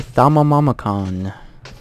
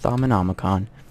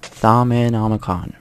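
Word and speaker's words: Thaumonomicon: what is that let's find out that's a thumb oh mama cone no it's pronounced sama nomicon sama nomicon not found the one look on all right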